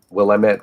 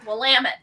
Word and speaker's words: Willamette: we are separated from it by the uh willamette river which apparently is how you say that i don't even know willamette yep of course with that being said three